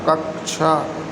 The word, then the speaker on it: कक्षा: तो कक्षा, सा से बनता है ना, यही वाला शुद्ध उच्चारण।